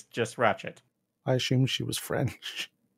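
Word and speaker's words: Rachette: Yeah, it's Ratchet, like Ratchet and Clank. Ratchet. It's not like Ratchet. T-T-E. It's just Ratchet.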